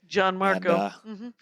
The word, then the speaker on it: Gianmarco: Gianmarco. It's not Gian. I want to Italian it.